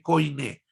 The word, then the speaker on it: koine: koine, como se escreve koine? K-O-I-N-E, acento agudo na letra E final, koine, porque a palavra koine quer dizer do povo, grego popular.